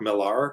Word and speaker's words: Millar: Yeah, because I call him Mark Millar whenever I'm talking about him in the comics or whatever. Yeah. Well, because that's how he says his name, so I just say it like he says it.